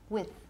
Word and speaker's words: with: So, be very careful because la pronunciación de with con es con una I corta. With.